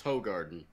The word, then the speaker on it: Hoegaarden: typically and just for the record it is spelled with an e no yeah it's Hoegaarden but yeah there's no getting away from it